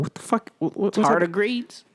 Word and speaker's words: tardigrades: Tardigrades? What is this, are you guys asking? What the fuck? What's that? Tardigrades? Yes, that's how you pronounce it.